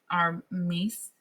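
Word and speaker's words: Myss: I really like her mace. M y ss. I'm going to call her mice because that's how I pronounce it in Spanish.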